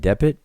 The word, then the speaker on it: dpt: We see a determinative of a boat, and this word right here, depit, means boat. The next word is also transliterated as DPT, pronounced depit, but it means to taste or to taste or taste.